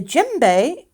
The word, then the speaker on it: djembe: The djembe, and it's spelled D-J-E-M-B-E, it can be very big or very small.